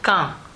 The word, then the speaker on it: Caen: Et ça se prononce comme le mot Caen pour poser une question, qui lui s'écrit Q-U-A-N-D.